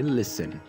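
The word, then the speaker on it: listen: सुनो लिसन लिसन इसकी spelling होता है जैसे आप पढ़ सकते हैं लिस्टिंग लेकिन इसमें टी साइलेंट होता है तो हम सिर्फ पढ़ेंगे लिसन लिसन सुनो लिसन तैयार हो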